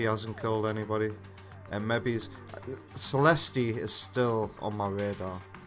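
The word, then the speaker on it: Celestia: Actually, Vector, I think you'll find the character herself pronounced her own name and she said Celesti. So, if the character says that she's called Celesti, she's called Celesti.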